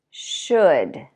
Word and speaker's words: should: Should. Could. All of those words have the same vowel and the L is silent.